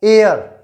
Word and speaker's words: heir: लेकिन इसका प्रोनाउंसिएशन देखो, हिंदी में प्रोनाउंसिएशन क्या है, एयर। एयर किससे शुरू हो रहा है, इसका प्रोनाउंसिएशन ए से, और ए है वो